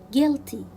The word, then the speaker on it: guilty: pronounce letter u guitar guilty guilty i will not pronounce letter u tong tong i will